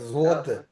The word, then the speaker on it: złote: And some people from Poland, they pronounce it as an U sound. And some people pronounce it as a L sound. Like złote.